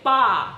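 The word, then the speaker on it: barre: Let's not forget the bar gaff when he pronounced it bar-a, and then everybody pretended like they knew what that was, but we all had to look it up. It's bar. I think it's exercise on a bar in dance studio.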